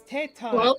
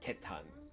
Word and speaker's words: Tetan: Tetan, but you got to make sure you say it correctly of Tetan. I thought it was Teton. No, it's Tetan.